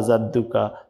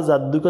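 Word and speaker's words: جَدُّكَ: জাদুকা যদি বলেন তাহলে জাল দিয়ে হচ্ছে জিমের উচ্চারণ কিন্তু শক্ত করে জিহ্বার মাঝখান থেকে বলতে হবে।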